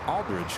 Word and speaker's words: Aldridge: name and that's how I knew how to pronounce Aldridge correctly huh thanks to Jane Aldrich oh there